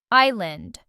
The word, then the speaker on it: island: This word has a silent s and means a piece of land surrounded by water. Island.